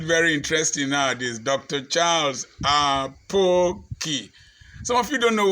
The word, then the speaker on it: Apoki: You will tell somebody, I am Dr. Charles Apoki. He will still call you Aboki. He will still call you Apoki. He will still call you Adoki or Apochi.